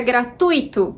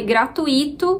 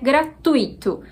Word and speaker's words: gratuito: escreve então por exemplo a palavra gratuito só tem essa pronúncia como correta embora muita gente fale gratuito O que provavelmente vai fazer um dia essa também ser uma possibilidade de pronúncia mas atualmente a pronúncia aceita é gratuito tui sendo uma sílaba sol uma outra palavra que